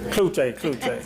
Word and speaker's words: Cloutier: Cloutier, did I pronounce? Kluche, mine was weird. Kluche, kind of like Goche.